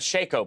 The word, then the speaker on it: Shaco: glad you say Shaco I think Shaco is the right way to say it yeah I was talking